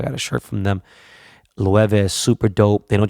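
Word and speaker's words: Loewe: and I asked them and he goes it's pronounced Lou Ewa and I see a Sat rocky [ __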